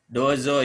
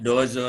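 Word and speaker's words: どうぞ: dozo yoroshiku onegaishimasu ini kalau ditulis dengan hiragana doanya bunyi panjang pakai lalu joknya bunyi pendek dozo yoroshiku ke dozo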